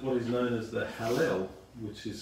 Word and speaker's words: Hallel: spelled D-U-K-A-N, recited what is known as the Hallel, which is spelled H-A-L-L-E-L.